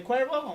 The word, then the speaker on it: Cuervo: Cuervo. Mr. Cuervo. Cuervo. They remember, the White Devils. They remember by the tequila. Is it a tequila? Uh-huh. Jose Cuervo. Jose Cuervo. Oh, like Jose Cuervo?